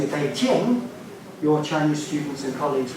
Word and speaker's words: Beijing: in the correct way they're not over exoticizing the J it's just a j a j uh so